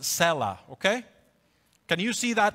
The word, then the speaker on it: Selah: You can see in your Bible a little word, I put it right here in red, that is, it's pronounced Selah, okay?